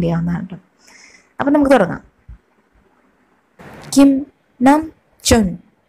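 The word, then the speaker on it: 김남준: ഇനി ഞാൻ പറയുന്ന ഉച്ചാരണത്തിൽ എന്തെങ്കിലും വ്യത്യാസം ഉണ്ടെങ്കിൽ നിങ്ങൾക്ക് താഴെ കമൻറ്റ് ചെയ്യാവുന്നതാണ് കേട്ടോ. അപ്പം നമുക്ക് തുടങ്ങാം. കിം നം ചുൻ, കിം നം ചുൻ, കിം നം Joon, Kim Sok chin, Kim സോക്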